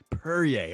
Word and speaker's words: Perrier: And shout out to my dog, Floyd Perrier. Perrier, okay. You said it right. It sounds like a good glass of wine. It sounds like Perrier.